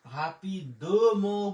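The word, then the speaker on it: rapidement: রা পে ই পি দে ও দ, একসাথে উচ্চারণ করতে পারে হাপিদ, হাপিদ ম বলতে পারেন, কিন্তু ফরাসি একসাথে তাড়াতাড়ি উচ্চারণ করে হাপিদ ম, কিন্তু হাপিদ ম যদি বলেন সেটাও কিন্তু সঠিক, ঠিক আছে।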